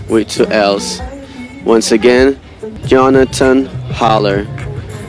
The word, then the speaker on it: Jonatan: me at Jonathan with a J but it's pronounced Jonathan because I'm from Slovenia Jonathan holler with two else once again Jonathan holler how do you spell that j-o-n-a-t-a-n without